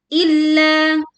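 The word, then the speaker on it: إِلَّا: Mun illa illa we press the letter lam bertasydid illa two characters long min.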